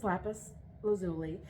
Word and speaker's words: lapis lazuli: so lapis lazuli uh it's pronounced a couple different ways that's the way I'm going to pronounce it I used to actually pronounce it a more fun way that I knew was wrong um but I will spare you that so this is lapus lazuli this was uh thought